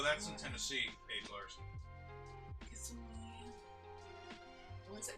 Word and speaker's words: Kissimmee: Kissimmee. What's it? Kissimmee. St. Kissimmee. Cloud. That basically taught most Americans how to pronounce that.